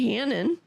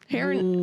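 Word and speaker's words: Harron: Our director is Mary Hannon. Heron.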